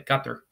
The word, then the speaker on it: Qatar: a mansion in Doha Qatar Qatar I'll say it like the Arabic way cut there this is my featured